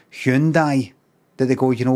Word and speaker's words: Hyundai: But it'll be something like, so many people are still getting it right, maybe saying Hyundai, that they go, you know what, let's just let them.